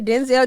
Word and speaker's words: Denzel: they didn't tell okay he said his name was it's pronounced Denzel oh I didn't know